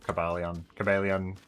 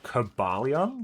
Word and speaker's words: Cobalion: I've always pronounced it Cobalion, like an emphasis on the bar.